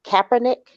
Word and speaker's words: Kaepernick: I think one of the things that recently made that real clear is Colin Kaepernick. Is that how you pronounce his name?